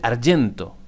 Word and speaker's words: argento: Por ejemplo, en italiano, plata se dice argento con G, porque la G la pronuncian como la Y en español.